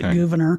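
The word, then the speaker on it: Gouverneur: Actually, they pronounced it Governor. It looks like Governor, but it's got a funky spell.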